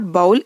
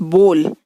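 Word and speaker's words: bowl: कुछ लोग इसका प्रोनाउंसिएशन बाउल कहकर यूज करते हैं, बट इट इज़ नॉट बाउल, इट्स बोल। ये बाउल नहीं है, इट्स बोल।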